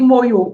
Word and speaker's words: Moyo: Je vais dire en même temps, tu as écrit en tétéla, on dit Moyo.